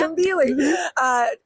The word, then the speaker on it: Tumbili: We had ERT exclusive ride time last night on Tumbili. Am I saying it right? Yeah. Tumbili.